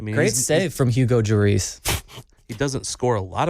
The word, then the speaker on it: Lloris: And my wife responded with, it probably starts with a Y sound like yours. Lloris.